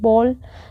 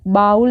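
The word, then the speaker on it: bowl: please hand me that बॉल यहां पर बी ओ डब्लू एल बाउल नहीं होता है यह होता है बॉल कटोरे को हम बॉल प्रोनाउंस करते हैं ठीक है तो कृपा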